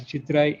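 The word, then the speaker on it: சித்திரை: It's pronounced as Chittirai in Tamil.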